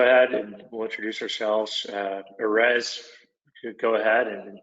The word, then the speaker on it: Erez: And Erez, one of these days, I'm going to be able to pronounce that R, like the Erez, as well as you do.